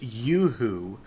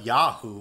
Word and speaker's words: Yoo-hoo: Well, it's pronounced Yoo-hoo. I call it Yahoo for some reason.